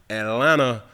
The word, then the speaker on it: Atlanta: Atlanta, the tea is silent.